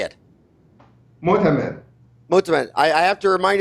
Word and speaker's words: Motamed: Motamed.